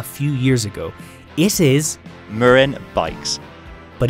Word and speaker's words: Marin: in america a few years ago it is murren bikes but it's not just american brand names